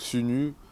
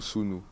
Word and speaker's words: Sunu: l'ai répété plusieurs fois, mais les deux se disent, donc Sunu ou Sunu.